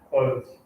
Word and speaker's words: clothes: english we just like clothes it's kind of a weird word to say clothes you see this in the clothes so you don't pronounce the e you just say it